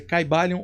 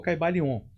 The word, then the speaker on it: Caibalion: que que ia falar a pronúncia Pode ser caibalion ou caibalion tanto faz não se sabe Exatamente